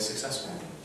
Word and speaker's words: successful: So, okay, the way I would write it, just to this is not how you write it, but so suck. Successful. So suck.